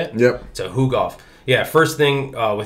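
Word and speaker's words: Tukhugov: is that how you say it yep so who golf yeah first first thing with him he hasn't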